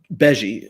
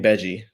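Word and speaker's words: Bege: Beji. It's Capone Gang Beji. Oh, like bougie but Beji.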